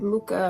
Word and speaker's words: Mucha: I looked up, I wanted to make sure I said it right, and everything I saw, they said Muka or Muka, so Alphonse Muka.